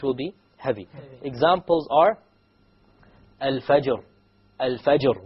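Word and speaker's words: الفجر: Examples are al-fajr. Al-fajr. We don't say al-fajiz. Al-fajr.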